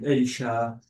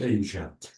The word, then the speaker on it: Asia: And this is why some people say Asia and others say Asia.